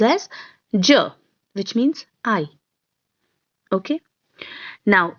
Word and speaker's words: je: person it is j j okay it is pronounced as ja which means i okay now in second person